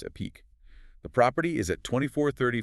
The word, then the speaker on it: Epique: That's E pi q pronounced epique.